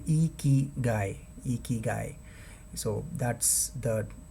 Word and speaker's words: ikigai: in our day-to-day language the right way of pronounciating iki guy is iki guy so as you can